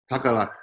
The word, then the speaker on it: Tagalaka: Tagalaka.